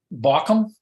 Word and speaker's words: Bauckham: But is it Bochum? Is that how you pronounce Bochum's name? Bauckham? Yeah. Clark Bauckham, yes.